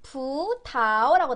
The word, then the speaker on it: 葡萄: 근데 이게 우리나라 사전에는 부타오라고 나오거든요. 우리나라 사전에는 이성, 이성으로 나와요. 근데 중국인들 발음은 일반적으로 부타오. 부타오. 뒷발음이 어떻게 들려요? 네이버에는 부타오지만 실제 현지인들은 부타오. 뒷발음 어떻게? 부타오. 부타오. 부타오. 뒷발음 경성으로 처리하시는 게더 현지인들이 하는 발음에 가까워요.